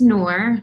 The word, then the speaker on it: Nour: asked me to join so my name is nour a lot of people ask me how do